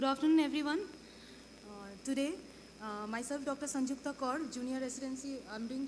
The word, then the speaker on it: Sanjukta: Sanjukta, you pronounce J or you don't pronounce J, like in Spanish? Pronounce. Due to tuberculosis. Yes, start. Good afternoon, everyone. Today, myself, Dr. Sanjukta Kaur, junior residency.